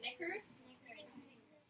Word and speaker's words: knickers: Knickers? Knickers. Yes, knickers. Perfect. Just kidding. That K is silent.